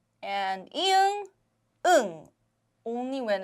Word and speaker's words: 안: But instead, keep the air in your mouth. An. Do not release the air when you read Hangul. So this becomes an.